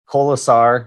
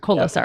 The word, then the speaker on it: Kolesar: Kolesar. Yeah. Kolesar. So I have to add an extra syllable in there. Kolesar.